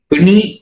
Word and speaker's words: பிணி: இன்னொரு நாளைக்கு விரிவாக பேசுவோம் பிணி என்று சொல்லுகிற பொழுது அது மூன்று சுழி நீ பிணி ரெண்டு சுழி நீனா உச்சரிச்சா பிணி என்று வந்துவிடும் ஆகவே நாங்கள் அதை உச்சரிக்கிற